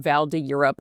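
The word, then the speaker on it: Val d'Europe: It's called Valde Up. Um Vald de Europe if I'm using my American accent.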